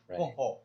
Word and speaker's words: Kung Fu: written with Roman alphabets, they'll supplement a K, but it's actually pronounced as a G.